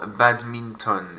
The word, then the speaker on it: badminton: Au badminton. It looks like English, you have to French it up. Or badminton.